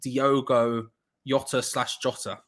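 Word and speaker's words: Diogo Jota: former West Ham Target uh coming on for Diogo Yota however it is the correct way to pronounce his name but they will be coming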